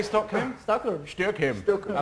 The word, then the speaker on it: Stockholm: I quite like the way you pronounce Stockholm. How do you say Stockholm? Stockholm.